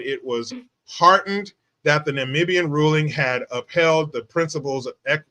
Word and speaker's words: Namibia: constit how do you say it n namian Namibia Namibia yeah so they have they have Article